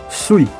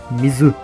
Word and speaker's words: 水: O kanji de água nessa leitura é pronunciado como sui, que se aproxima do som da palavra shui, que também significa água. Já no kunyomi, se pronuncia mizu, que é a forma